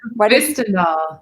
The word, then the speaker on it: Hvistendahl: Hvistendahl. The H is silent. Hvistendahl.